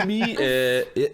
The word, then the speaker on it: Emeii: C'est la prononciation en anglais, donc ça se dit super bien. Depuis switcher en français, là, les gens ont beaucoup de difficultés, mais ça reste Amy.